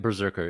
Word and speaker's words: BRZRKR: Oh, this was also the day that Keanu Reeves' Berserker was on in Hall H, and I'm pronouncing it Berserker. It's spelled Brzrkr.